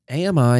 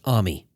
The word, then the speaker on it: AMI: listeners to this show, AMI has 3 syllables, and this year's shirt reinforces that. However, some of you who work at AWS insist that it's pronounced AMI. Let me just state right up front that you're wrong.